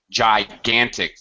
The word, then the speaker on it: gigantic: good you're pretty close gigantic the first G is a j sound and this gigantic yes